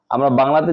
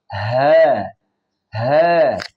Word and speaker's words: ه: হ্যা হ্যা হ্যা এরপর একটা জিনিস খেয়াল রাখতে হবে মুখটা যেন ছড়িয়ে না যায়।